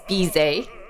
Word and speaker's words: Bizet: Bidet with a Z. Bizet.